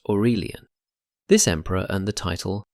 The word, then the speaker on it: Aurelian: Enter Aurelian, pronounced Orurelion.